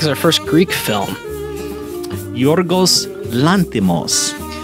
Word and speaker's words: Yorgos Lanthimos: Yorgos Lanthimos. Cole is saying that right because we just had the computer tell us how to say it, and it sounded just like that.